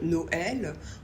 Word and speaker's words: Noël: devrait le prononcer différemment par exemple Noël on prononce donc bien le O et le E mais normalement au e on a plutôt tendance à le prononcer e comme le mot cœur par exemple ou bœf donc là ce tréma il est là pour qu'on continue de prononcer le E comme un E exemple avec les